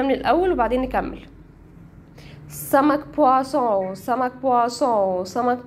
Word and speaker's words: poisson: ما اتفقنا لو لقيت او ان هنطقها اه هنطقها اه زي سمك بواسون مشروب بواصون طب ايه الفرق بينهم؟